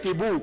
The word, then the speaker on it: Tibú: Es Tibú, con acento en la U.